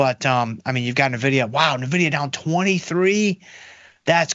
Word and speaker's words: Nvidia: right from I want it's Nidia and that makes sense to me because that is the right way to say it from the beginning but